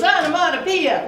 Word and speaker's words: onomatopoeia: So the way I taught my first graders was onomatopoeia, wouldn't want to be ya.